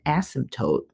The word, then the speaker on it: asymptote: The x-axis, guys, actually has a name, and they call it an asymptote.